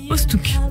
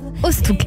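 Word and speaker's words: Oosthoek: Ostouk. Ostouk. Voilà. Alors ça s'écrit sur YouTube Ostouk, O-O-S-T-H-O-E-K.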